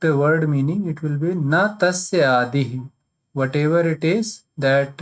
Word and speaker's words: न तस्यादिः: So if you pronounce it correctly, it will seem like na tasya adihi.